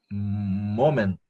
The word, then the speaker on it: moment: Could you call back later at the moment? Yeah, right. This final T is silent.